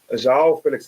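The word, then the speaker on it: João Félix: can say what's his name uh Zhao Felix Zhao Felix that's how he said his name is pronounced I have to look at that again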